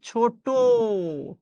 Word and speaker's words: ছোট: ছোট আপনি লিখছেন এটা, কিন্তু আপনি উচ্চারণ করছেন ছোট, টয় ওকারে টো।